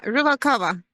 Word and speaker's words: Ruvalcaba: Yeah, Ruvalcaba.